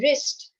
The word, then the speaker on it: wrist: Okay, wrist. W-R-I-S-T. Which one is silent? Again, W is silent.